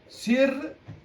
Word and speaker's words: sirrun: Remember, the haraka of the second letter will be pronounced.